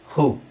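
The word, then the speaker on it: who: walk what wear Y ಹೂ ಸೊ ಇಲ್ಲಿ ಮಾತ್ರ change ಆಗುತ್ತೆ ಸ್ವಲ್ಪ ಹೂ ಇಲ್ಲಿ ಡಬ್ಲ್ಯೂ ಸೈಲೆಂಟ್ ಆಗುತ್ತೆ ಹೂ ವಿಚ್ ವೈಟ್ ವೈಟ್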